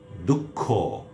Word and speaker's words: দুঃখ: যদি শব্দের বা পদের মধ্যে বিসর্গ থাকে তাহলে বাংলা উচ্চারণে বিসর্গ পরবর্তী ব্যঞ্জন বর্ণের উচ্চারণ দ্বিত্ব হবে, অর্থাৎ দুবার হবে।